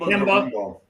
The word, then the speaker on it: Gorimbo: It's Temba Gorimbo.